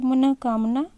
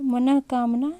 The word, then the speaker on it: मनकामना: ध्यान रखेंगे अष्टावक्र बोलते हैं इकलौता संहार मनकामना यह सही है जबकि ऐसे अक्सर लोग बोल देते हैं मनोकामना जो कि वह उच्चारण की दृष्टि से या वर्तनिक दृष्टि से क्या है अशुद्ध है शुद्ध क्या होता है मनका कामना नेक्स्ट क्वेश्चन क्वेश्चन नंबर 19 को देखते हैं।